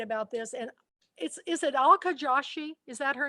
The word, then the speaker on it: Alka Joshi: And is it Alka Joshi? Is that her name? How you pronounce it? Alka Joshi.